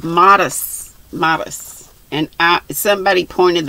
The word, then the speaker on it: Mares: and terry modest and it looks like mayors but it's not it's a it's pronounced modest modest and i somebody